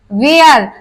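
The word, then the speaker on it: where: वेयर, तो इसमें भी वेयर, इसमें भी हमारा एच साइलेंट है। क्यों है? क्योंकि एच से पहले हमारा डब्लू आया है और एच के बाद हमारा वॉवेल आ गया है, तो इसी कंडीशन में हमारा एच साइलेंट रहता है।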